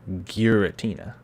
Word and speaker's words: Giratina: a shiny geratina well how do you pronounce georgina you pronounce it giritina giratina anyway uh i do